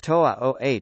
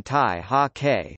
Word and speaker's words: 大學: da shui, are pronounced toa oh, colloquial readings for both characters, instead of the literary reading tai ha ke, which is common in Taiwanese and mainland Chinese dialects.